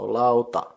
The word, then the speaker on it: lauta: Lau is the first syllable, and it's like the middle of the word cloud or loud, and ta is like the beginning in tambourine, so lauta.